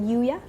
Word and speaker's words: UYA: can you tell us more about how to pronounce it Yuya Yuya okay can you tell us more about